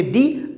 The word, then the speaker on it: the: कोई वॉवेल हो तो हम THE को पढ़ेंगे दी, अदरवाइज हम इसको पढ़ेंगे द।